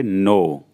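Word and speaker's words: know: इसमें भी के साइलेंट होती है। तो इसको हम पढ़ेंगे नो। एन ओ डब्ल्यू। वैसे अगर हम पढ़े तो नाउ होता लेकिन यहां के के साथ में तो इसलिए हमारा पूरा वर्ड होगा नो। के साइलेंट है फिर भी हम नो पढ़ेंगे। मुझे पता है तो आई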